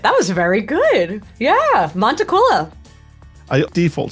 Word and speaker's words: Montaquila: I'm hoping I'm going to pronounce this correctly. Montacquila. Nailed it. That was very good. Yeah. Montequila. I default say Montila like the alcohol but I don't I don't know why I get Montia a lot too which apparently is like close